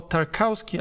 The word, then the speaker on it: Tarkowski: football and improved it james tarkowski or tarkowski as you probably would prefer to pronounce his surname decided to represent england